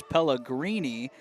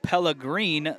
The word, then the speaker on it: Pellegrini: into the action here I've been told that the goalkeeper's name for Huntington University is Pellegrini I want to apologize I believe the pronunciation guy is wrong I'm gonna go with Pella green the rest of the way I've talked to some